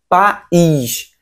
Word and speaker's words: país: P com A fica ali junto, né? Essa sílaba junta, pá. A outra sílaba é o is. Dá vontade de deixar junto, né? País junto, mas não tem essa separação, porque o i está acentuado, ganhou força de vogal, separa.